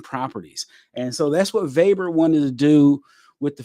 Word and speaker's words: Weber: would talk about at life Z was Ernest vber now V I said V instead of Weber okay German V's pronoun way W's pronounce is V's so Ernest vber uh he was he was a physiologist okay